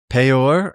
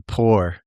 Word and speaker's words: Peor: Um, the fact that we transliterate that as P E O R is bizarre to me because it's P in Vaves. So it's actually P O R.